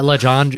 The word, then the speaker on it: Lejeune: It's like I forget how Lejeune. It's spelled crazy, but luckily I went through this already last time they were there, Right.